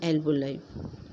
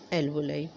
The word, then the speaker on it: alveoli: सा, उसको कहते हैं एल्वोलाई। इसको कई लोग एल्वोली भी प्रोनाउंस करते हैं, लेकिन इसका जो करेक्ट प्रोनाउंसिएशन है वो एल्वोलाई।